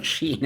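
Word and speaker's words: Shein: know what she or what I didn't even pronounce it is that yeah it's a Sheen are you sure yeah okay so for you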